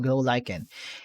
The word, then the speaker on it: glow lichen: That's how it is pronounced, glow lichen.